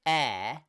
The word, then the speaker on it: heir: he was breathing air we also have the word air pronounced the same way which means a person who inherits so your oldest child usually